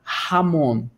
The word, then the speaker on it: jamón: Todas as palavras que você vê com J no espanhol, você vai pronunciar dessa maneira. Um exemplo aqui de cabeça que eu falo para vocês é a palavra jamón.